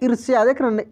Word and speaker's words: ईर्ष्या: श और यह है ऊपर आर की मात्रा है ठीक है ना रेप की मात्रा है जो की आई के बाद उच्चारण हो रहा है ईर्ष्या ए के बाद आर का उच्चारण हो रहा है तो ईर्ष्या इसको पढ़ेंगे ये है दोस्तों उत्पन्न